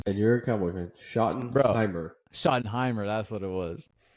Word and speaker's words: Schottenheimer: Him and is it Schottenmeyer? I think that's how you. Schottenmeyer. Is it Schott? How do you fucking pronounce his name? And you're a Cowboy fan. Schottenheimer.